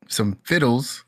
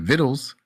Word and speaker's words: vittles: my graduation, and he came over, for some fiddles. Is that how you say it? Vittles after the excuse For me, some after the vittles.